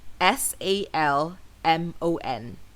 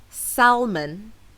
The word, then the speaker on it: salmon: English language Learners because the L in this word is actually silent and this can be confusing for non-native speakers however the correct pronunciation does not include the l sound so it's not salmon it's salmon as in